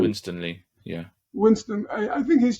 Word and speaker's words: Winstanley: So I think people like Asa, how do you pronounce his last Asa name? Winstanley, yeah.